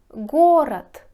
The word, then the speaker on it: город: говорите и слушайте смотрите город город пишите да говорите то город саратов саратов пишите в